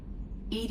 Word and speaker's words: EDI: the airlock is ajar why are you named ed ed is the phonetic pronunciation of Ed I that is an acronym